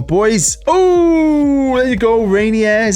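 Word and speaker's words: Reinier: it come on boys oh there you go rainier is how you say his name a little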